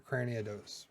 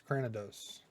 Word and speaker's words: Cranidos: See, I always want to put that extra O in there, Cranidos, but it's Cranidos.